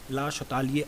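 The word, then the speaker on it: Le Chatelier: नाम है ला सतालिए, लीस चैटेलियर। इसको कई तरीके से प्रोनाउंस किया जाता है, तो there is a many ways to pronounce his name, but ला शतालिए अगर मैं बोलूँ then it is okay, what ever your teacher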